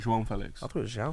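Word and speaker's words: João Félix: Yeah, His name's John. João Felix. Jean It Felix. sounds like John. This is the way you say it, João Felix.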